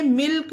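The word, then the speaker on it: milk: है इसको भी देखिए एम आई एल के मिल्क अब देखिए के से पहले एल है पर यहां पर ला का उच्चारण दिया जा रहा है इसे मिल्क पढ़ेंगे एस आई एल के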